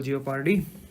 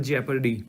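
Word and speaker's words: jeopardy: article 22 है ये double जिओ पारडी double हमारे यहां जिओ पारडी बोलते हैं सब लोग but that is इफ यू से in proper pronunciation it is double जेपरडी answer रहेगा सी नेक्स्ट इज़ नेक्स्ट 173 अंडर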